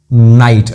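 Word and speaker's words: knight: नाइट, अब आप रात वाला नाइट बोलो या ये योद्धा वाला नाइट बोलो, के यहाँ पे साइलेंट है, साउंड एक ही है दोनों का, नाइट।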